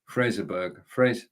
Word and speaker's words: Fraserburgh: Fraserburgh. Fraserburgh. Like Edinburgh, it's spelt the same way, isn't it? So it's Fraserburgh.